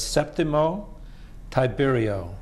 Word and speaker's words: Septimo Tiberio: And this evening we are pleased to have with us Septimo Tiberio. Did I pronounce that correctly?